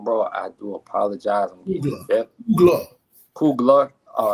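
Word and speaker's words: Coogler: I want to give a special shout out to Ryan Cougar. If I'm saying your last name wrong, bro, I do apologize. Kugler.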